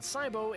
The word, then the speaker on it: Sibo: It's discovered that the volcano Mount Sibo is still active. In 2018, he pronounced it right.